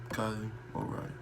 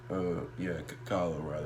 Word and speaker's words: Kyle O'Reilly: Fish, Adam Cole, and Kylie O'Reilly. Or Kyle. Kyle O'Reilly. I don't know why I say Kylie. Kyle O'Reilly. I think that's how you say it. I keep hearing Kylie for some reason.